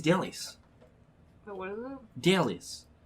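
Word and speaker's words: Dellis: Delis. How do you spell that? Delis. Dallas? D-E-L-L-I-S. Oh, D-E. L-L-I-S. Like a really bad version of Dennis.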